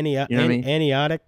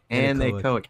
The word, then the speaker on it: anechoic: Anionic, how you say it? Anechoic.